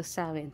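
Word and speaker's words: Samhain: mga ah nagce-celebrate ng samain Paano ba bigkasin yit saen so sawin so sa mga nagce-celebrate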